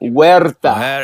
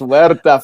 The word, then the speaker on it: Huerta: right give it to give it to me wera yes wera from Mexico there you go and